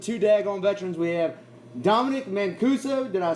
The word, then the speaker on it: Dominic Mancuso: We have Dominic Mancuso.